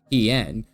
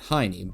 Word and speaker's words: Hien: Lord Hien, who immediately I'm told by chat is pronounced Lord Hien and not Heine, but you get what you get.